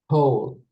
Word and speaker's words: whole: The silent letter is? W. Exactly. Pronounce the word. Whole.